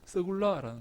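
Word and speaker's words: סגולה: 여러분이 소유란 말이 무슨 말인가 하면요, 이 히브리어로 서굴라라는 말입니다. 서굴라. 한번 따라해 볼까요? 서굴라. 야, 여러분들이 발음이 얼마나 좋은지 모르겠습니다.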